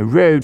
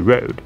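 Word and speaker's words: RØDE: hot signal as the Rode. Side note, Rode is an Australian company, and it has its O pierced like a slash as the last letter of the Danish alphabet.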